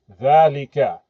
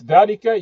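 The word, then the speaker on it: ذلك: dhalika Notice dhalika, you hear the alif sound. dha lika. The alif is omitted when you write the word, but it's pronounced. So, dhalika, we don't say dhalika, we say dhalika.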